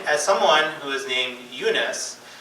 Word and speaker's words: Younus: And I was growing up in northern Virginia, I was the only Eunice in my class. And people sometimes would have struggle to say it or pronounce it. They would call me Yiannis, they would call me Yonas.